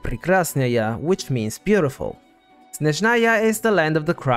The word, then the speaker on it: Snezhnaya: Snezhnaya is a Russian word that is actually pronounced Snezhnaya, and it's an adjective that means snowy.